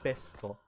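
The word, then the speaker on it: besto: you'll see C EST bestto now animal sounds like beast in English so that's how I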